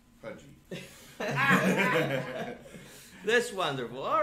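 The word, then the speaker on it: Puje: pretty boring that's right it's spelled funny uh it's spelled p-u-j-e but it is pronounced pudgy that's wonderful all right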